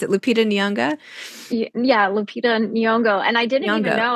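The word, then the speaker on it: Lupita Nyong'o: cover and you know LED how do you pronounce it Lupita nonga yeah Lupita nongo and I didn't even know I was like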